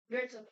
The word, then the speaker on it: Goethe: It's pronounced Goethe. Goethe.